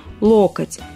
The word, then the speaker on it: локоть: их произносить все просто надо ориентироваться на начальную форму слова ударение как егоменительном падеже единственного числа локоть всегда будет падать на первый слог без каких-либо исключений Поэтому да согнуть в